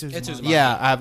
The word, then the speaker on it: Uzumaki: Or is it Uzumaki? It's Uzumaki. Yeah, I have Uzumaki to read.